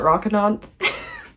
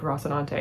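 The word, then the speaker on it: Rocinante: how you pronounce it I used to call it rockan and then I watch the TV show and it's like rosante and I'm like oh that makes more sense we're following a crew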